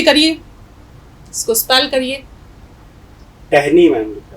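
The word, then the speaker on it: ٹہنی: तो टे हे जेर टह, टह, नून ये जेर नी, टहनी। टहनी।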